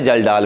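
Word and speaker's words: Kjeldahl: लेकिन प्रॉब्लम ये है कि जल्डाल में भी के साइलेंट है, वो स्टार्टिंग के से होगी, KJELDHAL।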